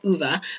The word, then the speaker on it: Uwe: So some of this information is written in Uwe, actually it's not his name is Uwe, but it's spelled U-W-E, Albrecht's book, Intuitive Healing, so you can check that out.